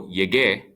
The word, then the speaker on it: llegué: So, yo llego, I arrive, becomes yo llegué, I arrived. If you leave out the U, it'd be pronounced llegué, and that's not what we're looking for.